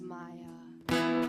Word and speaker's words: Mia: Give it up for Mia joining us. I love you so much. It's Maya. It's okay. It's okay. It's okay. I know it's Maya. It's Maya. okay. Maya. It's spelled like Mia.